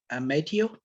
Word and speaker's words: Mateo: anyone uh is it is it Mateo Mateo am I pronouncing your name right correct can you hear